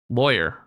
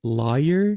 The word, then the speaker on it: lawyer: Lawyer. If you pronounce it like lawyer, then you're in the majority. But if you pronounce it like liar, then you're likely from the deep south.